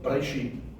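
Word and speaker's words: בראשית: You should actually pronunciate the word as if you don't even hear that E sound. So that you pronounce it as Bereshit.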